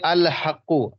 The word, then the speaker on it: الحق: جیسے الحق, ہا کو لائے الحق, الحق دیکھیے ہا کا تلفظ ہوا کہ نہیں ہوا, تو ہا کیا سمجھ میں آ گیا کہ ہا یہ کیا ہے حروف قمریہ ہے.